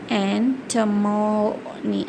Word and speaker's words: antimony: Antimony, it is anti-money, but the pronunciation should be antimony.